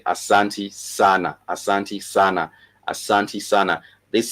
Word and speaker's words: sana: So I'm talking about sana for emphasizing a lot, sana for emphasizing a lot. So this is SANA, 2 syllables, sana, for sana for a lot, sana for a lot, sana for a lot, for a lot.